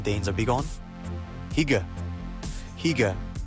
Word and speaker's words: hygge: Hygge, pronounced Hygge, is all about that cozy, comfortable feeling.